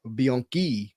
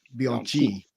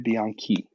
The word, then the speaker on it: Bianchi: name, which is Simone Bianchi, like Key, not Bianchi. It's spelled CHI, but it's like Key. So I thought that was interesting. Simone Bianchi.